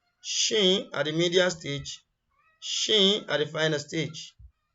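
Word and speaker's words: شين: The closest English equivalent in pronunciation is what? Shine, polish. You get the sh, and this is sh. Description. This is pronounced from center of the tongue, touches the palate, similar to the English word sheet.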